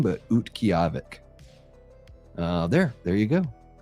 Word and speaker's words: Utqiagvik: And it translates to a place to gather wild roots and it's pronounced Utqiagvik. Utqiagvik. So it's got a little bit of a Russian kind of feel to the name, but Utqiagvik.